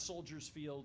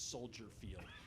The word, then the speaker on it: Soldier Field: okay uh for example it's not Soldiers Field it's Soldier Field it's not Millennial Park